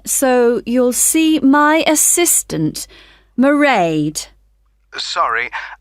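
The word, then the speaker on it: Mairead: you'll see my assistant maraed sorry how do you spell that it's m a i r e a d marade okay got that it's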